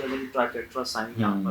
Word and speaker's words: Triquetra: और ये सीखने वाला ये क्यों बनाएगा यहाँ पर ट्राइकेट्रा? ये क्यों बनाएगा? खाला इल्म का बदतरीन साइन है। मैं आपको स्पेलिंग बताता हूँ जी, TRIQUETRA।